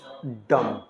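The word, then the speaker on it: dumb: के साथ ठीक है एम के साथ बी आए तो वहां बी को साइलेंट रखते ी ओ एम बी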